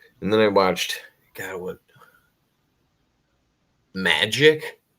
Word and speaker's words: Majic: Magic is the new one I watched is spelled Majic, and it's supposed to be about Majestic 12, and it's about this streamer.